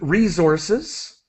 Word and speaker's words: resources: All right, and so, sorry, I just wanted to help with resources. The extra syllable there.